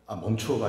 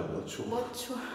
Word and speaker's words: mature: 자, 어차피 또 그 멈추어가 아니라 mature.